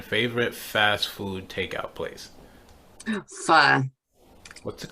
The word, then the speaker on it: pho: It's spelled PHO and pronounced pho. It's at least how I've always heard it pronounced.